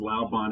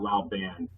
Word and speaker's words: Labon: laon but I have to make sure it's Labon and not La ban I might have to